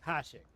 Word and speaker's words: Akashic: The lads are doing what they can to keep them out, but unlike the Akashic, they need sleep. No kidding. Akashic. Okay, that's how you pronounce that.